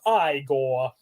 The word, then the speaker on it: Igor: It's pronounced Igor.